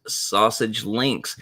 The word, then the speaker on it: SASG Links: welcome to sausage links yes it is pronounced sausage links this is your daily